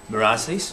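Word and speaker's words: Meur ras: Merasis.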